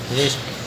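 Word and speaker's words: wrist: पढ़ेंगे रैप अगला है डब्लू आर आई एस टी आर से प डबल इसलिए डबल सा से पढ़ेंगे रेस्ट अगला है एक्स वाई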